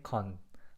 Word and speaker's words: 건: This time the pronunciation is simply con.